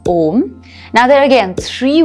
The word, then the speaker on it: om: the syllables right so it's made up of a o and m and all together forms om now there are again